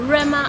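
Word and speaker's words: Rhema: ezabaddeyo nga ziyitibwa eza Rema Awards with a silent H Rema Awards zabaddeyo naye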